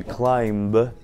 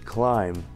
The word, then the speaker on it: climb: Вместо climb нужно говорить climb.